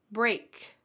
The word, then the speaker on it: break: Brick, break, brick. The first one has a short I, brick, brick. And the second one has a long A, break, break.